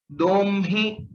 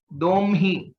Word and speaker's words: दोह्मि: Domhi duhvaha dumhaha. दोह्मि दुह्वः दुह्मः. So the pronunciation of these two forms, that is domhi, it is similar to brahma.